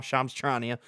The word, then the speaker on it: Shams Charania: I know how to pronounce it now, Shams Charania.